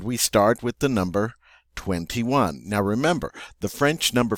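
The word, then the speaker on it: vingt et un: The way the French say it is 21, 21. Notice they say 20 and 1. That ET means and.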